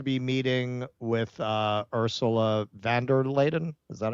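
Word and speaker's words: von der Leyen: Um, he was supposed to be meeting with uh, Ursula Vanderladen. Is that how you say her name? Yeah, Vander Lion. Yeah, Vander Lion uh, the head of the EU today and Kier Starmer tomorrow.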